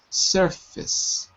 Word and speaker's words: surface: really say the vowels it looks like face but it's not it's f f surface surface and then was